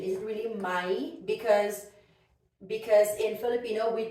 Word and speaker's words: may: when we are saying my in in a sentence we could say may but when we are reading this alone like this word it could never be read as May it's always my okay but in a